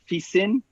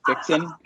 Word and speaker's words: Fixin: I was thrilled when I saw that you were sending you said you pronounce it Fissin. Yes, that's very cute. I would have pronounced it Fixin.